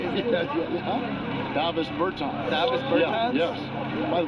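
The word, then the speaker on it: Dāvis Bertāns: Oh, well, Matt, at this point in my life, it's DeVos Bertans. Is that how you say it? Davis Bertans.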